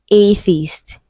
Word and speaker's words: atheist: Another example is atheist. It has e after th right but it is the voiceless sound.